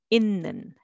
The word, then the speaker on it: 있는: So let's read syllable by syllable. 듣는, but together, 듣는, 듣는. And it는 will be 있는, 있는.